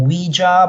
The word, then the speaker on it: Ouija: on absolutely crazy with Ouija boards and some of them are some people are calling them Ouija but I think more proper is Ouija am I right Ouija is more proper pronunciation and this is it